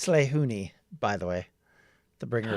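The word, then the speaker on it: Lehuini: I I don't think I really yeah it's slay hooni by the way the bringer of light uh how do you spell that uh l-e-h-u-i-n-i is my gold okay I'll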